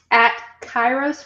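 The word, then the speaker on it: Kairos: Spell that for us. Chyros for Health.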